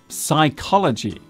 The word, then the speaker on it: psychology: Our final misspelt word today is psychology. This is a real stinker of a word to spell because it contains not one, but two silent letters. The P and H are silent.